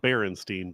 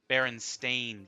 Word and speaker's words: Berenstain: Oh, Berenstein Bears is how I remember it. Berenstain Bears is the actual pronunciation.